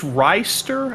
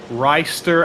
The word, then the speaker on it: Rister: Yeah, Scott, I believe it's Reister. I got to check the R-I-S-T-E-R? we got our pronunciation book. Let's see, because he did fill it out, thankfully. So let's scroll up here. Reister.